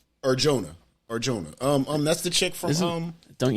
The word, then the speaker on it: Adria Arjona: Aria Ariona, I believe is how you say it. Alex Pereira plays a character named the Butcher. Adria, excuse me, I forgot the T. Adria Ariona. Arjona.